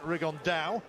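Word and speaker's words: Rigondeaux: today's talked about fighting rig on though or as he's correctly pronounced with the Spanish accent rig on Dow and shoe absolute geniuses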